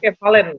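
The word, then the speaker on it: κεφαλὴν: Oh, tapi di sini kefalen, bacanya kefalen, gonias.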